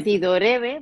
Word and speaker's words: tidorreve: Se escribe tidorreve, pero se dice con dos R's porque como es una palabra inventada, la digo como quiero.